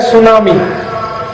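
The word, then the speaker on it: tsunami: है जैसे एक अंग्रेजी शब्द है सुनामी तो बोलते हैं सुनामी लिखते क्या है टी एस यू एन ए एम आई तो बोलना चाहिए टी सुनामी टी सुनामी टी सुनामी टी सुनामी कहते टी साइलेंट है तो क्यों लगा दिया हटा दो व अगर साइलेंट अंग्रेजी का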